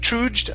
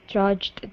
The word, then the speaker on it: trudged: right here yeah so instead of troed I trudge toward the music music building I trudged toward the music building